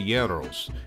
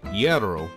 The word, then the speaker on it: gyros: food here including the gyros and according to our greek friends the correct pronunciation is yarrow not hero or gyro the best location to